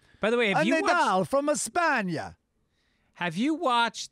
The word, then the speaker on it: Nadal: His last name is pronounced Nadal, not Nadell.